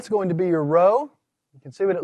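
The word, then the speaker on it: rho: call a guttural sound if i were to pronounce it i would pronounce it as a row you've got to put a little wind behind it in its pronunciation all right the next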